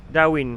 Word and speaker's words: Darwin: Darwin.